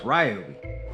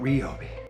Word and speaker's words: Ryobi: A couple days ago, I received an email from Ryobi Tools, and it left me confused. No, not because of the way some people pronounce their name. Remember, it's Ryobi, not Rioi.